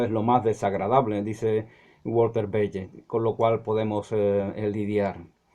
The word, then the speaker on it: Bagehot: Otro libro importante fue la Constitución inglesa, In the English Constitution, de Walter Bagehot, así dicen que se pronuncia, Walter Bagehot.